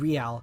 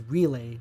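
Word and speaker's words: Reale: In the English dub, he's voiced by David Real. Yeah, I've been saying it wrong all this time. Back then, I would always pronounce it as Relay, not Real.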